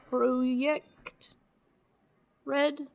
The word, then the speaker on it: CD Projekt Red: projekt red which actually apparently should be pronounced uh project red because the j's in whatever scandinavian country they're in are pronounced as y polish i believe it's polish oh that's not scandinavia